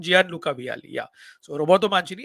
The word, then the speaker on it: Gianluca: Did I say the first name wrong? Gianluca Vialli, yeah.